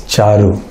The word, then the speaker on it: Charu: For Bhakti Charu Maharaj, they say Bhakti Chiru Swami, Chiru. They say Chiru, it's not, it's Bhakti Charu Swami. It's Charu, right?